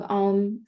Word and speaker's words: Om: Reminder, Om is A, U, M, and silence, 4 syllables.